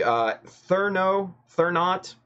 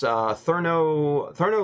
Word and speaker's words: Thernot: Thernot. I don't know how you pronounce it. I'm going to go with Therno. Therno Hobbies. THERNOT. Not sure if that T is silent or not, but yeah, he's going to be sending us some stuff.